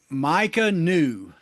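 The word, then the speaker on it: Maika Niu: Micah New, and it's spelled Maikaniu. And he's from New Orleans, Trinity High School, and he transferred from Marshall.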